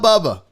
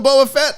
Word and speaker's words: Boba Fett: say it this guy it's not bubba buh the book of boafette i'm in i'll watch